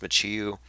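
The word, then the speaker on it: Michio: bad with my pronunciation I've been saying McCue Kaku apparently it's pronounced machee you it's a Mandela effect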